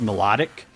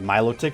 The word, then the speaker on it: Milotic: Pokemon, because you get the really good old Milotic out of it, which for the longest time I always thought it was pronounced melodic. Or not, yeah, no, I always thought it was pronounced melodic, but it's actually Milotic, so that is one